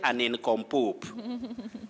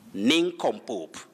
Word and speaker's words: nincompoop: of ketias nincompoop nincompoop don't say an income poop nincompoop it's a word that